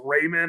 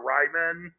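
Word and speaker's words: Raimann: I don't know how you pronounce his last name. I'm going to assume it's Raymond or Ryman. Mm-hmm. Yep, Raymond.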